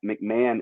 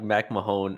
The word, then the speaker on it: McMahon: last name i said i said like mac mahone initially you're like and you said man i was like okay that's how you say it yeah i went